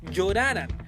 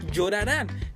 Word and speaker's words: llorarán: Cuando una palabra termine en N, también se tiene que acentuar. A continuación, un ejemplo. Si a esta palabra no le pusiéramos tilde, diría lloraran. La manera correcta es llorarán, ya que tiene N en la última sílaba.